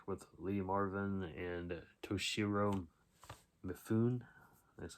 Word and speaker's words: Mifune: Next up is another Kino release from 1968, and that is Hell in the Pacific with Lee Marvin and Toshiro Mifune.